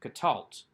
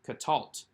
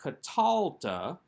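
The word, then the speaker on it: קָטַלְתְּ: to number seven answer for number seven is katalt we have the tav plus the straw at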